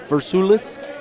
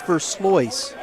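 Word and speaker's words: Versailles: I know that the mom, she told me but man, it's just I don't even know if I'm saying it right then Versalles?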